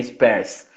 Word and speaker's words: Spers: Mas vamos ao nosso assunto aqui, professora Valéria Spers, está correto a pronúncia, né? Spers.